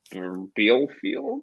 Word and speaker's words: Bielefeld: So George Bello sold from Atlanta United to Armenia Bielefeld.